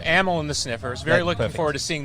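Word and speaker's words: Amyl and the Sniffers: I'm saying it wrong is it animal in the sniffers or ammo in this ammo in America United States so ammo and the sniffers very looking forward to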